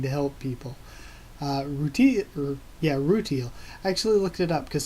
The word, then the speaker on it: rutile: afterward I was like maybe they're just pronouncing it wrong cuz Japanese English but no apparently rutile is the pretty the correct pronunciation routines being really scary